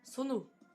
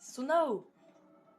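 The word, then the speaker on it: Sonau: Donc ça se prononce pas Sono. C'est Sonao.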